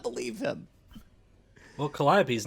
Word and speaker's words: Calliope: and that that uh audience especially losing the calliope stage i just said it right i've been